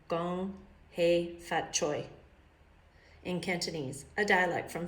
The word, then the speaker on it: Kung Hei Fat Choi: Kung Hei Fat Choi, pronounced, oh, see, I did it wrong. Gong Hei Fat Choi.